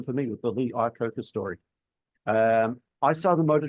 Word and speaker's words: Iacocca: I don't know if I'm pronouncing his surname right. Lee Iacocca, is it? Iacocca, yeah. Yeah, Iacocca.